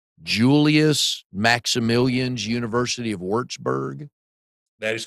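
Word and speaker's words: Würzburg: Uh then forgive me if I pronounce this wrong. Julius Maximleians University of Wartsburg.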